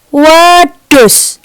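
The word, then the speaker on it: wedhus: Kata yang pertama dibacanya adus. Lihat lidahnya. Adus. Adus. Oke, kata yang kedua wedus. Wedus. Jadi perbedaannya adalah D dan D.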